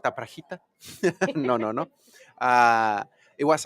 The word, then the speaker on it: Aprajita: I kept Aprajita. You said it right. Better. You said Okay. it right. Yeah. AP, Aprajita, not Aprajita.